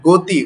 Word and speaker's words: গতি: উজ্জ্বলভাবে থাকার উদাহরণ যেমন গতি, উচ্চারণটা কিন্তু গতি নয় গ। আমরা যেমন গ পড়ি গতি, এভাবে কিন্তু বলি না, উচ্চারণটা হচ্ছে গো।